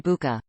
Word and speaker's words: Bucha: for what was done in spring 2022 in Bucha, a city in the Kyiv region, not Bucha as mispronounced by the English-language narrator.